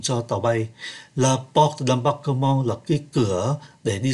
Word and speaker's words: d'embarquement: La porte d'embarque ở đây ký tự M mà chúng ta để ý. Do bởi nó đứng trước ký tự B, thành ra phát âm là N, la porte d'embarquement.